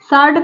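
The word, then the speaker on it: sword: मतलब होता है दो सार्ड का मतलब होता है तलवार यहां पर देखिए डब्लू साइलेंट है इसको सार्ड पढ़ा जाएगा इसको आंसर बोलते हैं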